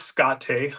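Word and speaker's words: škáte: title of it is scotte which is Lakota for play it's spelled like skate but with the little Accent on the E so you kind of know how to pronounce it um it's a story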